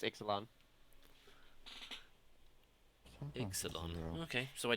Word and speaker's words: Ixalan: I don't even know if I even pronounced that correctly. It's Ixalan.